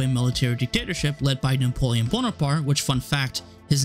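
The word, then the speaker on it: Napoleone Buonaparte: up dissolving into a military dictatorship led by napoleon bonaparte which fun fact his name is actually pronounced napoleone buena parte his regime kept many of the enlightened principles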